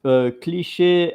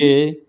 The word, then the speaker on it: cliché: I'm really curious because in France, Cliché. cliché, and then in English they pronounce it Cliché. cliché. So they are more like in French cliché, and in English cliché. It's more like Hmm. the vowels are are longer, and in that it's